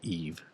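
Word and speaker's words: Yves: spelled his name but you just pronounced it Eve yeah the Y it's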